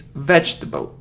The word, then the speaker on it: vegetable: It's vegetable. Vegetable. So we say j and t, j, vegetable.